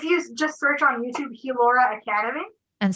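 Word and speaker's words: Healaura: just search on youtube hulora academy and spell that out for us for the listeners so it's h-e-a-l so heel aura a-u-r-a all one word gilora academy a-c-a-d-e-n-y wonderful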